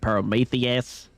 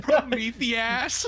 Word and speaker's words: Prometheus: Are you familiar with the story of Perometheus? Why did I say it like that? Prometheus. Prometheus. I'm frowned at her.